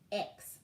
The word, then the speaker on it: Margaux: Margaux. I'll spell it again. Margaux.